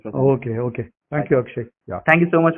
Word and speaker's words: Akshaya: So yeah, in Kannada, and actually in Hindi, you pronounce it as Akshay, right? Akshay, like Hindi has like that, like Akshay, you just cut it. You can write Akshaya, also you can write in Hindi, right?